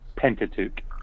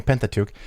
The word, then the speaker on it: Pentateuch: penta what's the proper way to say that pentateuch okay pentateuch um prophecy talk to me about prophecy because